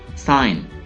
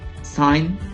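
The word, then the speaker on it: sign: साइन, साइन का मतलब है दस्तखत, साइन, यहाँ पे जी साइलेंट है, साइन, दस्तखत।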